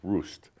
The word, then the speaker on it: Rust: R U S T but it's pronounced Roost because of the and make sure to say it's because of the storks.